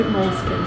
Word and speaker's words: Moleskine: Okay, but in America, it'd be Moleskine. Moleskine? Moleskine. Remember, Moleskine.